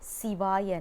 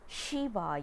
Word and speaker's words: Siva: don't pronounce it as shiva yanama or namashivaya shiva is a name it's not a mantra siva is a mantra because c has a significant meaning and that's one thing